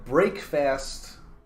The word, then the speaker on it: breakfast: next one we have is break faster yeah break fast is certainly the etymological origin of this breaking